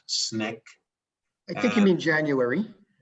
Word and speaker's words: SNCC: upcoming film in july which is called sncc pronounced snick i think you mean january did i say